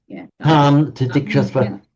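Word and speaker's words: तांस्तितिक्षस्व: So, tan titikshasva, tan titikshasva, and it's pronounced with a nasal vowel. I mean, exactly like the nasal vowel in French, on la France.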